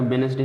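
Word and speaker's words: Wednesday: जैसे देखते हैं वेडनेसडे, इसको वेडनेसडे दोस्तों नहीं पढ़ते हैं क्योंकि शुद्ध उच्चारण का वेडनेसडे है। तो इसमें देखिए यन के पहले क्या डी आ गया तो इसलिए डी साइलेंट रहेगा।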